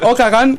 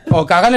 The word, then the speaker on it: Okanagan: Okanagan és el nom de la ciutat. Vale. Això està ben dit. Jo crec que és Okanagan. No, és que ho pronuncia amb accent canadiense.